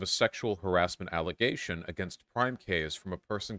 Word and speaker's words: PrimeCayes: It's pronounced PrimeCayes. Thank you. PrimeCayes.